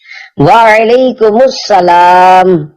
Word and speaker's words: وعلیکم السلام: جواب سناتا ہوں، پھر آپ اس کو دہرائیے۔ وعلیکم السلام، رضائے حق کے لیے تم سلام عام کرو،